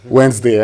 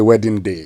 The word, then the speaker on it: Wednesday: and that's how you say it right Wednesday I mean I I had a friend who used to say wedding day yeah yeah yeah no that was a nice